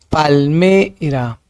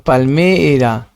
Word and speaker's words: palmera: Palméra, palmé se quedó ahí, ¿no? Palm era. Ahí está la sílaba tónica.